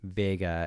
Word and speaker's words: Wega: The W is pronounced more like a V in German, so it's more like Vega and Wien.